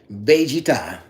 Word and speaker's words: Vegeta: Number one, Vegeta. Correct pronunciation, by the way.